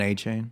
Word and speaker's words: Achane: You butchered his name, too. Yeah. Who? Kendre Miller? Devon A-Chain. Oh, Devon A-Chain. Sorry, Devon A-Chain.